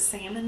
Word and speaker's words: salmon: up saying salmon and my parents do still pronounce the l sorry i came to